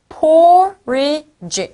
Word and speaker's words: porridge: porridge 이네요. porridge. porridge. 한 번 더. porridge. 요거 읽을 때 친구들 porridge 이렇게 읽으면 안 되고요. 제 앞에다가 딱 강조를 줘서 porridge 라고 읽는 겁니다.